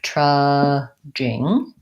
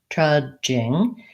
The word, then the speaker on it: trudging: this sound by sound I might have trudging trudging the D is a part of making that just sound my mouth goes my tongue goes to the D position and it releases into the G this is a continuing